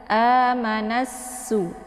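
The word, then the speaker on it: آمَنَ النَّاسُ: Jadi cara membacanya adalah dengan menekan nun dan menggabungkannya langsung ke sin. Amanassu.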